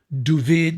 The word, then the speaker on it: Duvid: And that's Ferris luck, because I was hired by an Israeli cameraman that I'd worked with in the States named Duvid, they pronounce David Duvid, Gerfinkel.